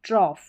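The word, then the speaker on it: trough: ऑफ ऑफ करके इसका उच्चारण। कॉफ और यहां पर है ट्रॉफ।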